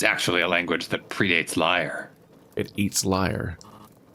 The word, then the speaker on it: Lyre: The reeds are descended from an ancient people called the Lyre. Just another variation of a name that sounds like the word liar. Or as in lies, like a liar, like one who lies in a politics drama.